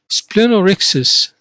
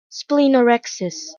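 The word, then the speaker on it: splenorrhexis: the first of the term here we have splenorexis splen means spleen and rix's rupture so ruptured or damaged spleen pronunciation splenorexis splenorexis the next suffix we have sclerosis sclerosis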